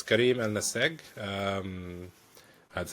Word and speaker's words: Ennassag: I wanted to introduce Karim which is our guest today and I had problems pronouncing his surname and I want clarification for that please. Yeah. So it's Karim al-Nase.